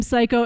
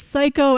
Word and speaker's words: Cayko: carry off the name psycho and yes if you're new it's psycho as in psycho killer it's it's spelled c-a-y-k-o but it's pronounced psycho it's edgy it's very